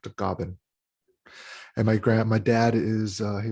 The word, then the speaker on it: Tagaban: And my last name is Tagaban. In the Philippines is pronounced Tagaban.